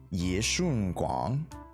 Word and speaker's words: Ye Shunguang: If you guys want the more actual pronunciation with the intonations. Ye Shunguang.